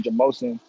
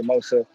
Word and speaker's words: Jamosun: the name mosa from my last name which is jamosun and it was just kind of it was like a pronunciation type of thing like people would just pronounce it wrong and it'd be jamosa all the time like teachers friends you